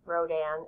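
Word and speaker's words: Rodin: kiss very famous sculpture sculpter and sculptor um Rodan is how you pronounce it and it was made in 1886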